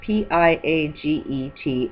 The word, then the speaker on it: Piaget: Researchers such as Piaget, I'll say his word if you want to research, Piaget, and Kohlberg, Kohlberg, not to mention my own research, have agreed that humans go through 6 basic stages of development.